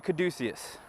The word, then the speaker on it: caduceus: the division the video I did for the caduceus and that is how you say it by